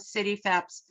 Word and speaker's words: CityFHEPS: to be comfortable with city febs so the h is silent um so in order